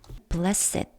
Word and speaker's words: blessed: blessed 이렇게 발음이 됩니다.